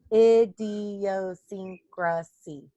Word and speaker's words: idiosyncrasy: is Dean Oh secrecy there's six syllables idiosyncrasy seven syllables the secrecy so idiosyncrasy